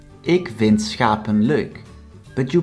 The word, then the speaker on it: schap: So the first one, schap, consists out of one single syllable with a short written vowel, so we pronounce it short.